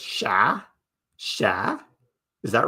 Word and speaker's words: chat: Don't pronounce the T. So, it's just sha.